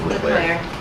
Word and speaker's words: Leclerc: I know you Okay, do, it's Leclerc.